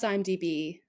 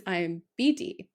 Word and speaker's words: IMDb: In honor of Louisa, who loves IMDb, but for the life of her, can't say it right, and always says IMBD.